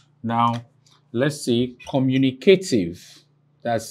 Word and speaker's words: communicative: Now, this is the last syllable, and this is second to the last syllable. Here is the third to the last syllable. You place the superscript vertical mark before it. That's to indicate stress.